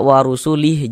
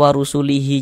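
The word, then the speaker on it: وَرَسُولِهِ: Kemudian kita membacanya sebagai warusulih. Jangan dibaca sebagai warusulihi.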